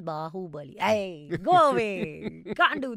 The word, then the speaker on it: Baahubali: again no no no it is not baahubali it is baahubali go away you can't